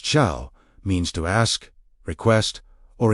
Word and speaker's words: shal: S H A L pronounced shaal means to ask, request, or inquire.